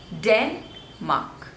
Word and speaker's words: Denmark: Republic next is Denmark Denmark so the stress is on the first label Denmark Denmark Denmark Denmark